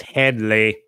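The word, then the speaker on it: Hedley: No, I just went, it's Headley.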